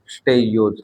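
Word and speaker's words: stachyose: इनके एग्जांपल और देख लेते हैं अपन, इनके एग्जांपल है रेफिनोज, रेफिनोज एंड स्टेयोज, ये प्रोनाउंसिएशन रख लेना।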